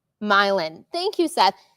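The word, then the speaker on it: Milan: So, we um uh Oh, it's pronounced Milin.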